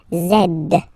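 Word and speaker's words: zède: zed zed okay so remember to pronounce this D at the end zed zed okay so let's see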